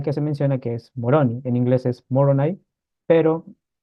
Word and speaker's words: Moroni: de Comoras y todo, la pronunciación de Moroni, como lo conocemos en español, vendría a ser Muruní. Entonces es con U y con un acento en la I al final, entonces Muruní o Murunua, como algunos lo mencionan.